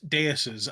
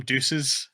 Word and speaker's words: Deus: don't know deus's I I think they pronounce it wrong I listen to the English dub for a couple of these episodes because I was curious all right and uh they call them Deuces and it's like I